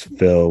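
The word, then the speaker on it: Fil: Yeah, and this guy Phil, it's spelled F-I-L. So it doesn't sound so much just like some dude named Phil, you know.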